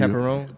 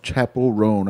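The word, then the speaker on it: Chappell Roan: Chapel Roan? Chapel Roan, I believe that's how you say it.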